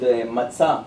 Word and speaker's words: matzah: How it's called matzah?